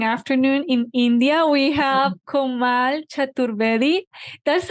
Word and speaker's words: Komal Chaturvedi: this morning and afternoon in India we have komal chaturvedi that's how you pronounce it yes yes okay we are so